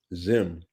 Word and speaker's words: Zzyym: So the person's name is spelled ZZYYM. Zim was denied a passport for failing to check male or female on an application.